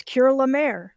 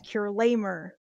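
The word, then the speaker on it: Cure La Mer: fifth cures name already it is cure lemare cool but it's spelled out so it really looks like her name is cure lamer which is really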